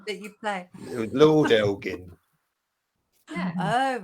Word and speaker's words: Elgin: Because I'm terrible, obviously, at pronouncing things. Elgin? Elgin.